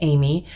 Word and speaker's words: Aimee: And I tried to get clarification on the little girl, and I know that her name is Amy, and it's spelled like the French way, Aimee.